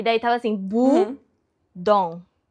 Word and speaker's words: Bodom: E daí tava assim bu dom. Tão perfeito. É isso. Bund bund não é budum. É budom. Calma.